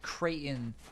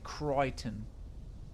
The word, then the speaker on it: Creighton: I think Creighton is how the Merkins say it. And people who pronounce it properly, such as Creighton himself, say Creighton. Anyway, we have no way